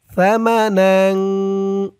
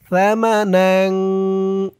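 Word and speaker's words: ثَمَنًا: ওয়ালাসতারুবিয়াত সামানাফাগুনা তানবিনের পরে ইফার হরফ আসছে সামানা তার উচ্চারণটা একদম নরম করবেন সামানা লিলা লি এক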